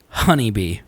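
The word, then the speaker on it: Hanbe: b e hbe but you pronounce it honeybee it's where Planet Sub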